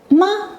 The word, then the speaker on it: 吗: The ma is given a neutral tone, making it sound light and short. Tip: the ma at the end transforms